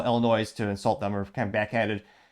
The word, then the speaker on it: Illinois: or let's call it Illinois to insult them or kind of backhanded. Spoiler alert, if you're actually from the Midwest, they pronounce it Illinois, but if you're not, most people call it Illinois.